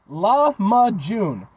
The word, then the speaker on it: lahmacun: those rather cuz there's multiple this is their laama June it's spelled l a m or l a h